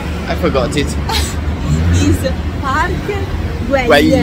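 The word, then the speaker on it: Park Güell: The real pronunciation... I forgot it. Is Park Guell. Guell.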